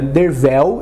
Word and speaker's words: Derfel: Mas quando nós vamos para o livro mesmo, nós conhecemos o narrador da história, Dervel Caderne, sim, se pronuncia Dervel, embora se escreva Derfel, e ele descreve Arthur porque ele é uma das pessoas que fica encantada com a presença de Arthur, né?